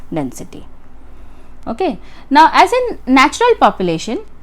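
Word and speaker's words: niche: निच नीचे इसको अलग-अलग तरीके से प्रोड्यूस प्रोनाउंस किया जाता है।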